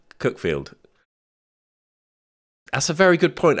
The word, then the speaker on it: Cuckfield: in a place called cookfield that's a very good point actually Hereford and how do you know cookfield is spelled cuckfield because it is it's spelled cutfield and the great thing is